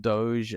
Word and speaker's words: DOGE: Is it Doge? Is that how it's pronounced? Yeah, because DOGE for those. Yeah, because it's the reference to the Doge meme, Yeah.